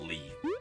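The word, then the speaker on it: Leif: No, it's not spelled like that. L-E-I-F. Yeah. Like life. But different.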